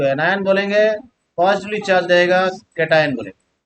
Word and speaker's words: cation: इसका उच्चारण जैसे करना वैसे करना, केटायन, इसका प्रोनाउंसिएशन ऐसा ही होता है केटायन, है ना।